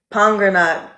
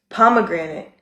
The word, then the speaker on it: pomegranate: Number two, pongranate. Pongranate. Pomegranate. It's to the point where I have to literally slow my brain down every time I want to say pomegranate because I want to say pongranate so bad.